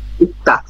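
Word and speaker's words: 읽다: ইকতা। ইকতা। ইকতা অর্থ কি? পড়া। পড়া। এই যে রিয়েল গিয়ক আসছে, তাহলে রিয়েলের উচ্চারণ হয় নাই, শুধুমাত্র গিয়কের উচ্চারণ হয়েছে, গিয়কের উচ্চারণ হবে।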